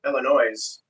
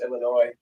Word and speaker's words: Illinois: us Illinois CLE is some people pronounce it with the S on the end call it Illinois Illinois instead of just Illinois it makes it sound